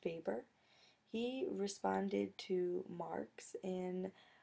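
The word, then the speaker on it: Weber: we've got Max vber his last name is pronounced vber he responded to Marx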